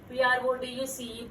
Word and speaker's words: produce: We have to pronounce it as produce. Produce means the returns which we are getting from the agricultural farms is called as a produce. Say again, children. Produce, not produce, produce. As the spelling is also the same, but you have to pronounce like produce.